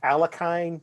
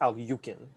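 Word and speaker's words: Alekhine: it's it looks like it looks like it's pronounced alakine but apparently it is al yukin i was between uh all right boris 4a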